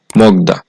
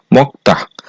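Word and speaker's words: 먹다: বাচ্চিমের পরে আছে দ্বিগুত এই শব্দটার উচ্চারণ হওয়ার কথা ছিল মগদা কিন্তু বাচ্চিমের রুলস হচ্ছে ক বাচ্চিমের পরে যদি দ্বিগুত থাকে তাহলে সেই দ্বিগুতটা সাংবিগুত হিসেবে উচ্চারিত হবে এজন্য এই শব্দটার সঠিক উচ্চারণ হবে মুক্তাহ এরপর হচ্ছে তুতকি এই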